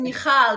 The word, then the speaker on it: Michal: no perfect like no my name is michal but i say in the book that you know i'm israeli it's a jewish israeli name and when you live